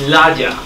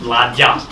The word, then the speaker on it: Láďa: It's Láďa. It's with long A and with a very strange D in the middle. I try to pronounce it Láďa.